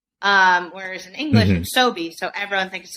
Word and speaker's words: Sobhy: 100 hy everyone because it's pronounced sobe in english like in arabic it's in arabic it's so it's like you